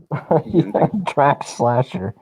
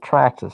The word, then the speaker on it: Traxxas: name slasher but yeah you got to say it right traxxas i even know that i don't even i'm not even an rc and i know it's traxxas uh but anyway i